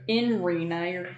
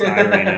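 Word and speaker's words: Ireena: Yeah, so in Rena, you're pronouncing it wrong. No, I'm gonna Death of Strahd it. Yeah, it's Irina now.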